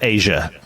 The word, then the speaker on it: Aja: It's Asia. No, Aja. I don't like any of this. If it's pronounced like the Steely Dan album, it's Asia.